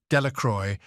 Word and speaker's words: Delacroix: Bobby and Harry Jones and Dickie Delacroix, the villagers pronounced this name Delacroix, eventually made a great